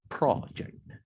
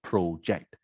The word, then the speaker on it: project: Whereas the noun, like a speech project, is pronounced project, not project.